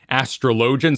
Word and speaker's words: Astrologian: Astrologian. So it's technically an old French word, Astrologian, but in game, Lord Commander McHandsome and others say Astrologian.